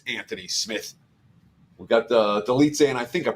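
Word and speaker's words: Dolidze: Roman delit versus Anthony Smith we got the delit say and I think I'm pronouncing his name right but I could be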